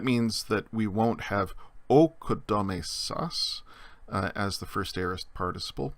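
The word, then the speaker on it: ᾠκοδόμησα: The iota from oi has slid under the letter. It's no longer pronounced, but it's there as part of the spelling. So the first aorist, first person singular form of oikodomeo is okodomesa. Okodomesa. Notice the A has become O, and the iota is still there as a subscript, but we don't pronounce it.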